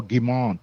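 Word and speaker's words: Guillemot: Claude Claude Germo, um I think is how you say his last name. It's I'm not sure if I'm saying that right. Say uh spell it out for me. I can't remember. So it's gu i l e m o t. Oh, gimon. That's French. Gimmo. Yeah, okay.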